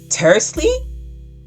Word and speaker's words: tersely: Tersely? Tersely. That's what it is. It rhymes with parsley, right?